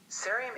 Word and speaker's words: cerium: Cerium is pronounced a bit like cereal.